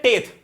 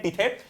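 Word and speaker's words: tithe: तो पहला टैक्स कौन सा होता है, इसको हम बोलते हैं टेथ। अब बोलोगे भैया टेथ, हाँ तो भाई इसको प्रोनाउंसिएशन एक्चुअली टेथ करते हैं, पर तुम टिथे याद रखो।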